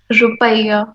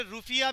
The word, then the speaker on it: Rupiah: Rupiah. वैसे इसको ना कई प्रोनाउंसिएशन करने वाले रुफिया भी बोलते हैं। रुफिया ही ना बोलना दोबारा, रुफिया। Rufia. हाँ रुफिया।